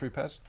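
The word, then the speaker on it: Rupes: got roots calm here yes Italians it should be pronounced repairs one of my favorites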